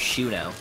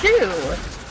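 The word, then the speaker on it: Chou: s Chu apparently named Sho that's how you pronounced my name it's Shu cuz it's the French word for darling well zo actually spelled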